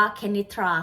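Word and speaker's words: Kenitra: ยัง ไง นะ คะ ก็ จะ เป็น k e n i t r a นะ คะ ก็ คือ กุ้ง ก็ อ่าน ว่า เค นิทรา ขนิษฐา นั่น แหละ ตอน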